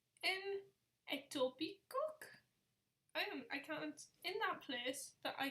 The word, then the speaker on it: Etobicoke: This place is pronounced Etobicoke. Etobicoke.